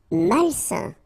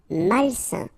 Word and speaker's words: malsain: Malsain. A-I-N together, it's a nasal and it's un. Malsain.